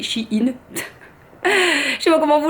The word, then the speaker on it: Shein: Moi j'ai Shein, hein, Shine, je sais pas comment vous prononcez. Moi S-H-E ça fait She et I-N ça fait In, donc ça fait Shein.